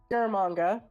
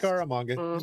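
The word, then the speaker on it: Scaramanga: Uh the bullet signifies that Bond is a target of assassin Francisco Garamanga. I'm probably mispronouncing the name, but I just Scaramonga. You got it.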